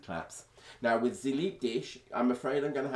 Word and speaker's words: dich: a hard German accent, dich, for instance, it sounds almost like dick, and so they obviously Sie liebt dich, they obviously found hilariously funny, and you can compare it.